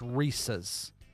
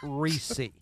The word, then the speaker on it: Reese's: It's Reese's. It is not Reesei.